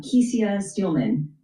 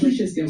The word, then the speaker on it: Kesia Steelman: And talk to us about the president and the CEO, uh Kesia Steelman. Am I pronouncing your name correct? Kisha Steman. Kisha Steelman. Okay.